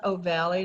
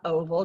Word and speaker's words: ovale: foramen oh valley and it's pronounced oh valley not oval just to remind you put that e on the end of the word oval and you are there all right for the